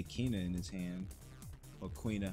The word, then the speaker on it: Quina: Or Quina. How do you guys pronounce it? Quina or Kina? I say Kina.